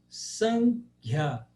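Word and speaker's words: Sāṅkhya: Agora, quando ele tem um H, você tem que pronunciar esse H. como por exemplo em Sankhya.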